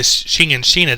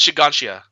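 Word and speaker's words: Shiganshina: One branch of the family that's moved to Shina district. Is that the one that got overrun by... It's pronounced Shiganshia.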